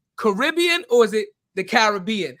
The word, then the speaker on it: Caribbean: Is it Caribbean or is it the Caribbean? How do we pronounce it? The pronunciation Caribbean is an American construct.